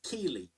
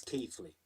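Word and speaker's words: Keighley: People sick of it being referred to as Keley. And yes, I know that local pronunciation might be a little bit different, but officially it's Keithley.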